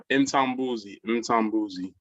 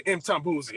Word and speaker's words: Mtambuzi: I'm Brother Mtambuzi. How you doing this morning? I'm doing well. All right, I'm pronouncing morning, the name. It's almost right. Mtambuzi. Okay, Mtambuzi. Okay, cool. That's right.